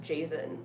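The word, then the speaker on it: Jasion: J it's I guess it's called Jon ebike it's not even Jason ebike it's just Jon like it's spelled j a s i o n so it's not just Jason it's like Jon allegedly I but I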